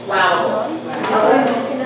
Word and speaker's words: flammable: Even though it comes from the base word flame, that's not pronounced flammable. It's flammable. Why? Because there are two M's in between.